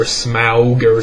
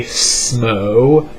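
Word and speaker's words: Smough: to purchase smooth armor a lot of people pronounce his name is like smell or smoger smug or but I say SMO the way it's spelled the the oh you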